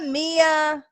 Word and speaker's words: Mia: Mia Yim. Mia. I always say her Mia name Yim. wrong. Mia. I was like, who the fuck's Maya? I've never heard of Maya. Mia. There's a difference.